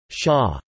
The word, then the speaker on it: shah: For instance, the combination MLK would be pronounced Shah.